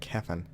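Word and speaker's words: Cefn: I have to keep remembering how to pronounce that, Kefin. Should be an E there.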